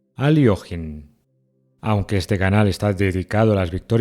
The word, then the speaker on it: Alekhine: Buenas, hoy les traigo una partida histórica del cuarto campeón mundial de ajedrez, Alexander Alekhine, o con la pronunciación correcta proveniente del ruso, Aliojin.